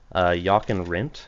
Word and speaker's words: Jochen Rindt: Jochen Rindt, I think is how you pronounce his name. Another Yep, Lotus Jochen Rindt.